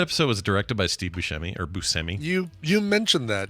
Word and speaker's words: Buscemi: Did you know that episode was directed by Steve Buscemi, or Buscemi? You mentioned that, yeah. I think I just got to say Buscemi.